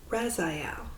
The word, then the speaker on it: Raziel: Rezai, I'm going to say Raziel. It's where the emphasis on what's syllable with these with these angel names.